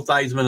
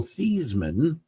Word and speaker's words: Theismann: Dame, he was Joe Theismann, and the promotion department told him, if you change your name, it would rhyme with Heisman, which he did.